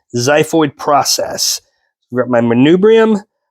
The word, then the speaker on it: xiphoid: pointy section this is my xiphoid spelled with an X xiphoid process we've got my